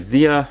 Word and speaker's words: Zia: take a look at Zia or Zaya once again I just pronounce it as Zaya uh there's some cool